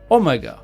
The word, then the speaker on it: Omega: Seeing the reveal of the finale's actual villain, Omega. More on him later. And yes, that's actually how you pronounce his name based on how it's said in his very first story all the way back in 1973.